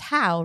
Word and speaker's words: Howe: and it's Howe, right? Yes. That's how you would pronounce it, Yes. Howe.